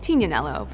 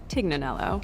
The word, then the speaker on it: Tignanello: The name the TIG comes from a wine called Tignanello, but oftentimes it's mispronounced Tignanello.